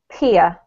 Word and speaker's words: peer: Peer. Peer. Yeah, that's better. Especially when you have into coming next, you need to hear the R, so it's peer into.